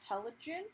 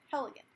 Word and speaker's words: Heligan: into the color called halogen i think that's our elegance sorry heligan that's how you say it and then we're gonna